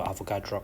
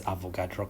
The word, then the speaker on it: Avogadro: So Avogadro Constant, and please do not ever pronounce it as avocado constant.